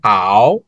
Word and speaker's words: 好: তাহলে এটার উচ্চারণটা কি হবে? 果憨好憨 হাও খান।